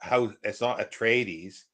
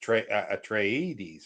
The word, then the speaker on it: Atreides: I was listening to how to pronounce the names in from Dune, and based on Frank Herbert's pronunciation of them, and it's not Atreides, it's Atreides or something like that.